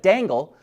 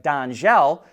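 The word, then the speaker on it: Dangel: with a French company whose name looks like dangle but I believe it's pronounced more like Danel to come out with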